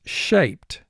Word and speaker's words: shaped: the video screen shaped we know ed is not going to form its own syllable because it's not ending with the d or t directly in front of ed so ed here it's not going to represent a vowel sound so we only have